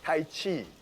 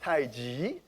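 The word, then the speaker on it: 太極: now that's the word seiji seiji sometimes we mispronounced as tai chi which many of you because it says chi for many years i should be pronounced tai ji g means opposite contrast the tree grows from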